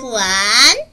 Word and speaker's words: 还: 자이 동사 아마 많이 봤을 거야음 잘 들어봐 발음은 후안 후안 후안 그 뒤에는 되돌려주는 물건만 넣으면 돼